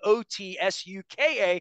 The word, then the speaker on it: Otsuka: I will try um my pronunciation probably is not great but it's otsuka is the correct Japanese pronunciation so it almost sounds